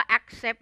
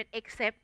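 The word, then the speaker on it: accept: ได้ มี คำ ว่า แอคเซป อย่าง เดียว นะ คะ โอ้ น้อง ระวัง หลาย คน ออก เสียง ผิด เป็น เอ๊กเซฟ ทาก เซฟ ไฟล์ เป็น เอ็กเซบ เอ็กเซบ bx แล้ว ก็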